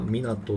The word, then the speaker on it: 皆友: これね、みんなの友達って書いて港って読むんですけ